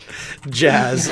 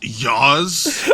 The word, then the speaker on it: Jazz: Jazz. All right, that's his name. That's okay. It's pronounced Yaz.